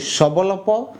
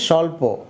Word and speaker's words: স্বল্প: তাহলে উচ্চারণ হবে সাহস এবার দেখো স্বল্প এটাকে কি আমরা এভাবে বলি স্ববল্লপ না আসলে আমরা বলি স্বল্প তো স্বর নিচে যে ব আছে এই বটা উচ্চারণ করি না আর যে দন্তস্য আছে